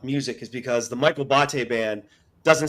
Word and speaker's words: Botte: So it's Botte. It's Italian. It rhymes with latte.